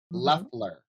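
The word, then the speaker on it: Loeffler: Leler. Leler. We have to say it right. Oh, I said Laughler. Oh, Leler. Laughler. Left. It sounds like it's got the O, but it's Leler.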